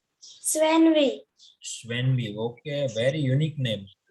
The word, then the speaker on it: Svenvi: यस Svenvi, what is the pronunciation of your name? सर या आपका नाम क्या है? स्वेनवी।